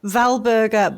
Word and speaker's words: Walburga: Wber but I'm pretty sure it would be pronounced Valber first name yes oh and so her child